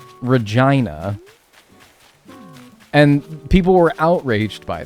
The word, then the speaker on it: Regina: The city that rhymes with fun, Regina.